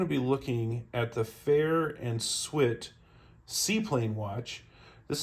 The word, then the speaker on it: Farr: Hodge so the fair f-a-r-r which by the way is pronounced fair not far just so you're aware